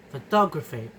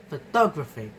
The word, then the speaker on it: photographic: The derived stress, photographic, photographic, photographic. The stress dramatically shifts from the first syllable, ph, to the third syllable, gra.